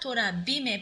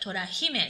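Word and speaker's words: 虎姫: It's not Tora Bime, but Tora Hime. So pronunciation doesn't change in this case.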